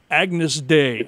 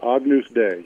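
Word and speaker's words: Agnus Dei: Smith's worship song I I hope it's pronounced Agnes Day I hope I'm saying that right Agnus yeah you're close Agnus day AGN day which is Latin and which means Lamb of God and um yeah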